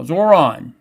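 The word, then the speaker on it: Zohran: You You need to learn how to pronounce my name or you need to pronounce his name right. Well, I got his name right now. Zoron.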